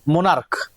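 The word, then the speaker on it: monarch: যেমন দেখ মোনার তাইতো তাহলে ক এর মত মোনারক এটা মনার্ক উচ্চারণটা মনার্ক মুনাক যখন আমরা উচ্চারণ করছি ক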